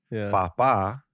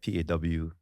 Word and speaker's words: papa: Papa that's not Hawaiian papa is not Papa uh that's more like paw uh kind of a